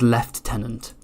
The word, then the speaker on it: lieutenant: I I cannot justify why my fellow Countryman pronounce Lieutenant as left tenant I'm not sure why